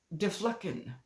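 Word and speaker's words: Diflucan: Okay, the word is deflucken. Deflucken. Deflucken. Deflucken. Anyway, it's on the screen. It's spelled D-I-F-L-U-C-A-N.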